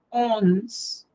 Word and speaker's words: onze: Ese 11 se pronuncia onze. Sí, es un sonido nasal.